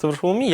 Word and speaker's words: Bartłomiej: My name is pronounced “Bartłomiej”.